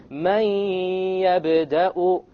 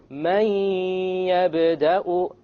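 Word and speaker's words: مَن يَبدَأُ: It's immediately the mim associates with the ya, and you drop the noon sound. But you have a ghunnah, and that's the nasal sound.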